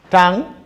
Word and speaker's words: tan: Tangent is the third one, abbreviated as TAN, tang, but can also be pronounced as tangent.